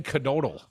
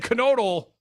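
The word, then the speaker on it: Knodl: and your boy Dan canodle I'm pretty sure you've pronounce the k yes Dan canodle says he would consider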